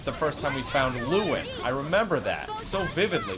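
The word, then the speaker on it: Luin: Luen. Yes. I don't think that's the name. It is. Luen.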